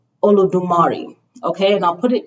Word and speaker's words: Olodumare: So it's Olodumare, okay?